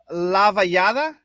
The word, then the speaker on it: Lavallade: Pronounce his last name. Lavallade.